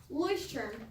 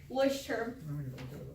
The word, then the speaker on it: Leuchtturm: These are called Leuchtturm journals. That's how you say it. I checked, that's how you pronounce this word, Leuchtturm. That's kind of the Americanized accent, but that's how you say it. Leuchtturm.